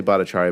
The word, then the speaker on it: Bhattacharya: I say Bhattacharya, but my cousins think I don't know how to pronounce it.